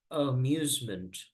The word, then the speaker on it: amusement: We say this is pronounced amusement. Amusement. So the A at the beginning, you don't pronounce it.